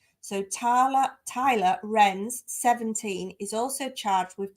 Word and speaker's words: Roenz: that Tyler um now I think they pronounce it renz but it's spelled for anybody who wants to look r-o-e-n-z so Tyler Tyler renz 17 is also charged